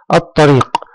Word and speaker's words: الطريق: الكلمة التالية، الطريق. الطريق، الطريق. نطقت اللام؟ لا، لم تنطق اللام، ممتاز، ولكننا انتقلنا من الألف إلى الطاء مباشرة، إذن فهي لام شمسية.